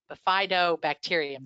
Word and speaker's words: Bifidobacterium: Two particular bacteria that we think are very good that are associated with breast milk are Bifido, I'm not saying it right, Bifidobacterium, there we go, and Lactobacillus.